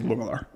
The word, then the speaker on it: Langelaar: Is it Langelaar? Technically, the Dutch pronunciation is Lungelaar. Like a Lung.